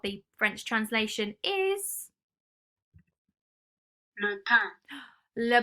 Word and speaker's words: pain: Le pain. Le pain. Not pain, because it looks a bit like pain, doesn't it?